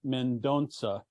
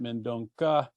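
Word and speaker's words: Mendonça: a book by Cardinal mendonsa I was informed uh that we don't pronounce it mendonca the C with a little tail on it is pronounced with an S uh so I have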